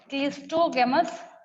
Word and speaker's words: cleistogamous: दूसरा वाला जो टाइप है यहाँ पे, दैट इज, उसको हम लोग बोलते हैं, सेकेंड टाइप इज, स्पेलिंग सुनिए, CLEISTOGAMOUS, क्लिस्टोगेमस फ्लावर्स।